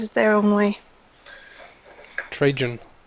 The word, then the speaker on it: Trajan: Trajan. We'll say it like that. I guess it's because I say it the Danish way.